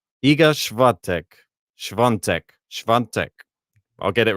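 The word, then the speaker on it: Iga Świątek: It is Iga Swiatek versus Karolina Pliskova.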